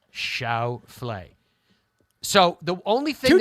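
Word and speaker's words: Schauffele: frame by frame listen guys my name is Xander shet Shia F quite clear Shia fle so the only thing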